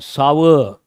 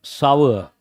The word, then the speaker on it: sour: Sore milk. Wrong. Sour. How do you pronounce that? Sour. All the three you have to know.